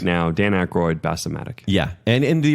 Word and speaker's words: Aykroyd: Dan Aykroyd, Bassomatic.